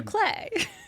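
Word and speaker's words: bouclé: I don't know how to say this word, but as I was looking at furniture for my own house, a lot of boucle.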